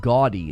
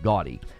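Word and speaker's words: Gaudiy: They're investing 10 billion yen in a partnership with Bandai into a company called Gaudy. It's spelled a little funny, G-A-U-D-I-Y, Gaudy.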